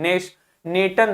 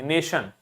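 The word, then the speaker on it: nation: एच श sound देंगे नेशन ने नेटर नहीं बोल देंगे नेशन position ट्रेडीशन स्टेशन रिलेशन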